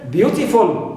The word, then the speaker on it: beautiful: Also full also is stressed like in beautiful. So here, full is always neutral, clear, and beau is stressed syllable as usual.